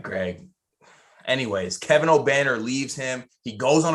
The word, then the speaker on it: Obanor: How do you pronounce that? Obanor. Kevin Obenauer. No, Kevin Obanor.